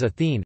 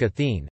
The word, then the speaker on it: Ἀθήνη: the singular form though, as Athene, Athene.